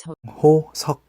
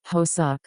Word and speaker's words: 호석: A common one is 호석, Now please don't at me with shit like Hosuk, Hosiak or whatever.